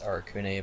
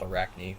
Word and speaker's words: Arakune: In the sub, yeah, in the Japanese it's Arakune, but in English it's called Arachne, which honestly, either way.